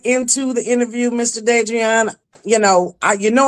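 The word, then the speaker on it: De'Dreion: Am I saying your name right? Drian. Yes, absolutely. You are saying it correctly.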